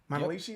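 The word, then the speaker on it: Manalishi: Monalishi, is that what it was? Yep, that's what we, I just want to make sure I was pronouncing that right.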